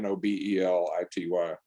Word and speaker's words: Nobelity: It's spelled like Nobel laureate, Nobelity.